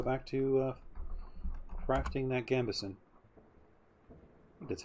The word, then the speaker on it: gambeson: we just go back to uh crafting that gambeson that's how it's said you have splint on